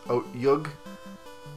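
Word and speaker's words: otyugh: Otyug? Otyug? O-T-Y-U-G-H? O-T-Y-U-G-H? And it's pronounced with a short O and T. Good practically to a ch. Make the pronunciation close to Otyug.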